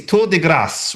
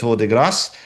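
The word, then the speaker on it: Tour de Gras: the band is I I'm not quite sure how to say this, but I think it's torass, which is spelled T O U R D E G R A S. So, to deass.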